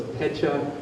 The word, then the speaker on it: Pecha: So the Japanese, it's always consonant vowel, always. So it's Pecha, Kucha.